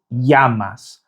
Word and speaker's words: llamas: Okay, so the next phrase is ¿Cómo te llamas? Which means what's your name? ¿Cómo te llamas? ¿Cómo te llamas? Now the double L in Spanish is pronounced like an English Y.